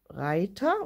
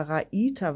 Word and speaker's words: Raita: Die Wolle hier, die hier verwendet worden ist, ist von Novita, die Seven Brothers Reiter, oder Raita wird das ja ausgesprochen.